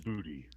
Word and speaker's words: Djibouti: Djibouti. Djibouti? Yeah. Okay, thanks. Because DJI is typically pronounced J.